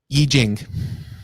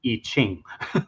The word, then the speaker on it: I Ching: I Ching. I always said I Ching. Yeah, I know. It's because of the Wade Giles system of transliteration, which we don't use